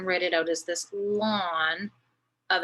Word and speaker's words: ln: said here it's pronounced lawn of x and you pronounce it like mowing the lawn but that's how it's